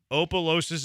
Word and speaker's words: Opelousas: Opelousas is pronounced Opelousas.